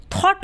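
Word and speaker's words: thought: में ए रहा है इसलिए ग क्या है साइलेंट है यानी की है तो लेकिन वो बोला नहीं जा रहा हम क्या बोलते हैं थॉट बोलते हैं तो यहां पर ग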